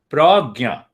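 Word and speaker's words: prajna: You see the prana, the word prana, 2 syllables. So it means the first unit of energy, prana. So here it is pragya. It is known as pragya. So pra is the same, and gya means knowledge, wisdom, consciousness.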